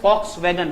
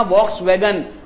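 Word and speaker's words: Volkswagen: फॉक्स बोलते हैं वो, वॉक्स नहीं बोलते। गूगल पे सर्च करना, लिखना वॉक्सवैगन और हिंदी में जाना, फॉक्सवैगन आएगा। वी से स्टार्ट है, लेकिन जर्मन लैंग्वेज में उसको प्रोनाउंस करते हैं फॉक्सवैगन।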